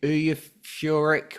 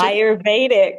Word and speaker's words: Ayurvedic: Val has traveled the world learning different forms of medicine, including hypnosis, yoga, and how do you say it? Euphoric medicine? Ayurvedic. Yeah, Ayurvedic.